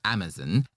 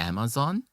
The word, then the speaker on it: Amazon: Fun fact, do you know that Amazon is pronounced differently between British and American English? I only noticed about a year or two ago. In the UK they will say Amazon and in United States there's a Amazon and if they have